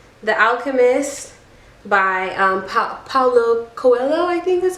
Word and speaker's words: Paulo Coelho: I say The Alchemist by Paulo Coelho, I think that's how you say it. Paulo Coelho.